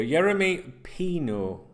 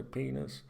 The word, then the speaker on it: Yeremy Pino: Yeremy Pino. I always want to say Pinos.